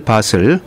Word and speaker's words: Bothell: BOTHELL 바슬. 이 발음이 저 여러 가지 좀 어렵게 불러 어떤 사람 저는 처음에는 보텔 읽었는데 나중에 보니까 바슬이라고도 읽는 사람이 있고 여러 가지 맞습니다. 발음인데요.